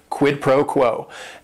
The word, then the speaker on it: quid pro quo: And it is three words. Each word is only one syllable. And if you're saying it together, the stress is kind of on that first word and that last word, quid pro quo.